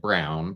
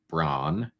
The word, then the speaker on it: Braun: so we have Braun I'm going to struggle not to pronounce it brown but from the police phone calls she pronounces it Bron not brown so Brun versus day